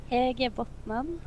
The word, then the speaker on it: Hedje Botnan: Hedje Botnan.